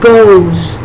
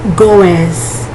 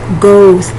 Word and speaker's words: goes: he she it g-o-e-s goes it's not pronounced goes it's pronounced goes it's as if it were g-o-z that s is pronounced more like a z so goes okay so